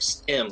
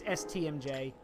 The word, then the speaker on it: STMJ: I almost want to say that was supposed to be pronounced like stim, like a stim pack. No, it's STMJ.